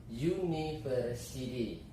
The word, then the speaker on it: university: Kemudian university, ya, jadi dibacanya y.